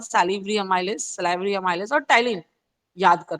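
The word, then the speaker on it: ptyalin: देखो दूसरा नाम टाइलिन, बच्चे टाइलिन देख के घबरा जाते हैं, पी साइलेंट होता है, टाइलिन बोलते हैं इसको, टाइलिन उसी का नाम है, सैलिवरी अमाइलेज को ही बोलते हैं।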